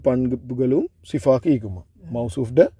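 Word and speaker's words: صفة: சிஃபத். சிஃபா அது தாவை நாங்கள் ப்ரொனவுன்ஸ் பண்ணுறது சிஃபா என்று சொல்லுவோம். ஆனால் சிஃபத் என்ன சொல்லுவோம், பிரச்சனை இல்லை.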